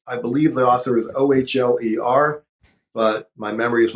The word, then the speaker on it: Ohler: Ohler, I had the name wrong.